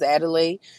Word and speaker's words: Adelai: Or See if you can write the pronunciation and cuz I want to say it right. My name is Adelay.